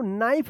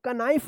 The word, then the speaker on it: knife: देखिए यहाँ पे एन से पहले के आया है तो के साइलेंट होगा। इसको पहचानना आपको जरूरी है कि एन से पहले अगर के आता है तो के क्या रहेगा? साइलेंट रहेगा। पिछले जो कल का क्लास आया था उसमें हम बताए थे आपको। ठीक है ना? तो क्या पढ़ेंगे? इसको नाइफ पढ़ेंगे। इसको कनाइफ मत पढ़िएगा, नाइफ।